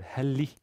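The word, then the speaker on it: هل: kessler in connection with the the first word heli now usually the interrogative particle is hel not e not heli so what does the e do there well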